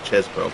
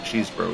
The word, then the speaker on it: Chesbro: it's it's cheese bro actually pretty sure saying it wrong all game I think looks like chesbro but I seem to remember that is act that cheesbro is actually the right right pronunciation of that so we'll ride that